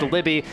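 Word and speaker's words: Luebbe: how to pronounce Aspen's last name sveld l-u-e-b-b-e pronounced Libby because I covered her at State golfer junior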